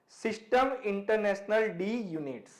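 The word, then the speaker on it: Système international d'unités: इट इज़ a French phrase and इट is pronounced like सिस्टम इंटरनेशनल डी यूनिट्स।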